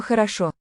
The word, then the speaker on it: хорошо: So, all O's in this word. There's only one accented syllable in a word. The last one, the other O's are, the first two O's here are going to sound like a.